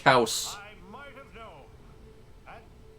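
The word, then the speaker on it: Kaos: That's pronounced Kaus.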